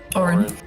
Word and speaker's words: Odrin: Orin. Orin? Orin. That's Is how it it's not pronounced. OD? The D is silent.